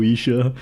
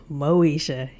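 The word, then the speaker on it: Moesha: Moishe by the way kind of hoping you'd like get like some syllable wrong absolutely not no Isha nope Moishe I know this so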